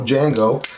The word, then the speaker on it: Django: after this video uh the war Jango has a D in front which apparently is silent and I completely butchered